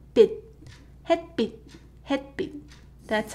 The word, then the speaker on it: 빛: Right, so you might think that it's pronounced bitch, bitch, but thankfully it's not pronounced that way. It's the same with 치읓 받침. So this is 햇빛, 햇빛. So the more correct romanization would be bit, but without t sound.